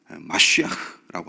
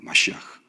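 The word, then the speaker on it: מָשִׁיחַ: 근데 원래 이 히브리어는 마시아흐라고 합니다. 마시아흐. 우리가 잘 알고 있는 메시아죠, 메시아. 그래서 성경에는 메시야로 되어 있는데 한글 표기가 사실은 발음상 메시아가 더 맞습니다. 메시야보다. 원래 발음은 이제 마시아흐인데 그 메시아가 바로 기름 부음을 받은 자라는 뜻입니다.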